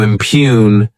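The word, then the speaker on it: impugn: the verb impune to impune this word has two syllables and the stress is on that second syllable what what it means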